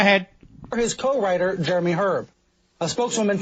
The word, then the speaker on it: Herb: producer or H the H is silent Jeremy herb if you will they went through the usual